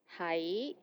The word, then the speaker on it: 喺: 喺 Be somewhere Notice that it's very similar to the last to be. It's 係 and 係. 係 is in 6 tones, and this one is in 2nd tone, 係.